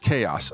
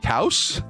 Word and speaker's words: Chaos: It's pronounced chaos. Okay, that makes more sense. What up, chaos? I was like, cows? I didn't want to call you cow.